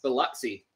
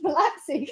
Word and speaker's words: Biloxi: More specifically, the Gulf Coast city of Biloxi, pronounced Biloxi. Oh. Which is about an hour or so. Biloxi, east. Pronounced Biloxi.